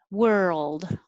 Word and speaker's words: world: is a difficult word it's a short word but there's a lot of movement were think of it as w-e-r-e like where were you and old so you need time for your tongue to move from the r my tongue is curled back whirl and then it moves to the l position so that time it